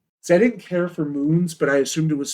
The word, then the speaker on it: mun: Yeah, they're called moons. That's how it's pronounced. Oh, it's M-U-N. Oh, cool. Yeah, it's moons.